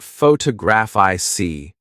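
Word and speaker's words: photographic: For example, photograph noun is stressed on the first syllable, but photograph I see adjective is stressed on the third.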